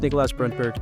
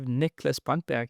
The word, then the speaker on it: Niklas Brantberg: I like the pronunciation. Yeah, was it totally correct, or yeah? Yeah, that was pretty good. It's pretty good. It's I'm Danish, live in Norway. It's a Swedish name.